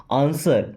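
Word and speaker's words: answer: आंसर। यहाँ पे W silent होता है ना, क्या पढ़ते हैं? आंसर।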